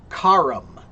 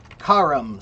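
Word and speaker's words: carrum: Cart comes from the Roman word kum. Kum.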